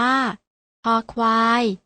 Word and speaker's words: ค: เสียง คอ เหมือน กัน พยัญชนะ ตัว แรก อ่าน ออก เสียง ว่า ค ควาย พยัญชนะ ตัว ที่ 2